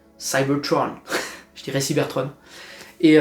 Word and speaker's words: Cybertron: Donc je ne dis pas Cybertron, je dirais Cybertron.